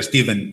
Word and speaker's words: Stephen: Eu lle faría pregunta a xente, poría unha película con subtitulados dun protagonista se chamase Stephen, con PH que se pronuncia Steven igual, que falaran dos Sioux, e logo faría pregunta ao final, faría unha enquisa, como se pronuncia tal?